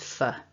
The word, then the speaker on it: for: a nice natural example just remember that the weak form of four is fur and it pops out all the time so a couple of